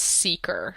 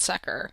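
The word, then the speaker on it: Sekr: how to pronounce this it's pronounced seeker not sucker which we've actually never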